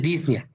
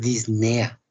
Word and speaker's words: disnea: No es disnea, es disnea. Solamente tenemos ese vicio del lenguaje en Ecuador y en México. El resto de países lo pronuncian adecuadamente.